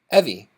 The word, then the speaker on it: Evie: name is Eevee too but said differently rhymes with Chevy Evie ah well Evie is